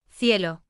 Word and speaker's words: cielo: where those same letters are pronounced simply as S. Cielo, Becomes Cielo.